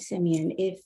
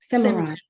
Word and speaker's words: Simran: Yeah, I will say, I will add to that, and to your point, Simeon, did I pronounce that correctly? Simran.